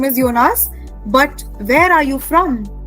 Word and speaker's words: Jonas: So, Jonas, remember J is Y in German. So, we say Jonas.